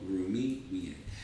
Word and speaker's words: Rumi: let's see let's see since i said let's see it rhymes with the author of this quote rumi all day i think